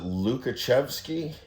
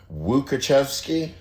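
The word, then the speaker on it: Łukasiewicz: And the one that starts with an L, is it Lukashevsky? That's actually supposed to be pronounced Wukachevsky?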